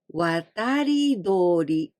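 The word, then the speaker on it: 渡り鳥: Migratory birds, watari dori. Here we pronounce instead of tori, dori, watari dori.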